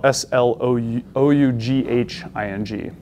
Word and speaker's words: sloughing: It's S-L-O-U-G-H-I-N-G. Does not make any sense when you spell it, but sloughing is what it's called.